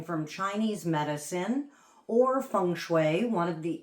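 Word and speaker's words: 水: So Shui is water. So this is how we would pronounce water.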